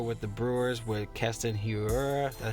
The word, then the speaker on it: Hiura: We'll go back here with the Brewers with Keston Hiura. That's how you pronounce it.